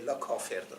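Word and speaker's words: کافر: I pronounce this as "kāfar" to rhyme with the last word of the previous hemistich "bar" otherwise, "kafir" is the proper pronunciation "All mingled" meaning that the entire world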